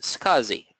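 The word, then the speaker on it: SCSI: small computer system interface is Kazi pronounced scuzzy as its they are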